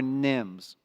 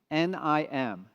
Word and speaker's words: NIM: Nvidia inference microservices or Nims a very short word easy to pronounce nim nim what is a Nim